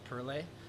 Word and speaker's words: Perle: So there's our main bittering hop is Perle, which is, or Pearl, depending on how you say it.